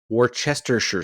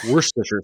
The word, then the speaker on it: Worcestershire: Yeah. Like, actually, it should be Worcestershire. Worcestershire. Yeah. Because it comes from the Shire of Worcester.